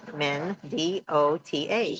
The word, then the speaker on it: Mendota: Not pronounced Mendota. I know. You're saying it wrong. M-E-N, Men, D-O-T-A. Mendota.